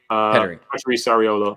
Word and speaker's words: Petteri Sariola: Pietri Sariola? Petteri Sariola, or Petteri Sariola in Finland. They do the whoop on the first syllable.